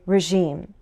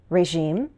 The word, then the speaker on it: regime: Regime is a word I've heard with both vowel and consonant sound variations. I usually say regime, but I've also heard regime, and with a J sound, regime.